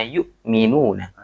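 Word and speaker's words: يُؤْمِنُونَ: Yang perlu diperhatikan adalah yang pertama, alladzina yu'minuna. Yu'minuna. Bukan alladzinanya, tapi yu'minuna. Nah, itu tadi Ana sedikit mendengar ada yang yu'minuna. Nah, itu nanti sangat berkaitan dengan artinya ya. Ya. Yu'minuna ya, orang-orang yang beriman. Yu'minuna. Jadi kalau misalkan memang tulisannya hamzah, maka dibacanya harus hamzah.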